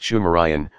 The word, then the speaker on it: Sumerian: It is also reckoned that the subsequent culture of the region, phonetically called Sumerian, pronounced Shumerian, was actually Sidmurian, Shimurian.